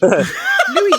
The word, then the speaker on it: Louis: Because the name's Louis. Louis, you don't say the S, right? Yeah. And in the Japanese dub, it's Louis, and then they decided it's Luis.